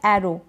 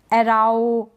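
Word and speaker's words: arrow: अब आगे है ओ डब्ल्यू को हम ओ के रूप में पढ़ते हैं। किस में? ओ के रूप में। जैसे कि ये सारे स्पेलिंग्स हैं। यहां पर भी ओ डब्ल्यू है। यहां पर एरो एराओ बारओ ऐसा कुछ गलत नहीं पढ़ रहे हैं।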